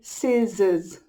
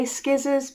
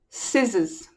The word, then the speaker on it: scissors: Ignore the C. The C isn't there. Just say scissors. Lots of English children say skizzers because of the spelling.